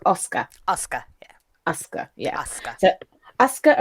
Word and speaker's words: Asuka: And then we move on to episode 8, which is, right, it's written Asuka, but it's pronounced Asuka.